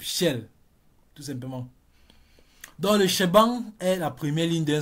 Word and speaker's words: shebang: Si on combine les deux, ça fait shabang. Shabang. Et au fur et à mesure qu'on prononce ça rapidement, ça va donner shebang, comme ça.